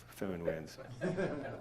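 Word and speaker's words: föhn: It might have been David Whiteman that said that you pronounce phone like Inspector Clouseau says phone, a phone, like phone winds.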